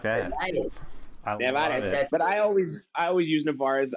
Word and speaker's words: Nevarez: I could throw the Spanish side of it. It's Nevarez. Nevarez? I like that. Nevarez.